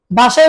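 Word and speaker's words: ب: বা আবার বলুন বা দুই ঠোঁটের ভিজা জায়গা থেকে আদায় হবে বা তা বলুন তা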